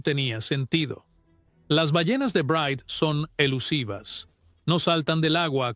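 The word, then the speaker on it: Bryde's: El sonido, dijeron, probablemente provenía de las ballenas de bride, pronunciado brides.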